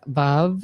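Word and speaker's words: Veuve: They have a VUV yurt, and my sister cleared the air with them. She walked in acting like she knows something, being like, my sister says it's VUV.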